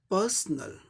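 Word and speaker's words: personal: तो ये क्या हो जाएगा, पर्सनल। 3 सिलेबल वर्ड है, पहले सिलेबल पे स्ट्रेस है, इसे जोड़ देके बोलना है पर्सनल, पर्सनल।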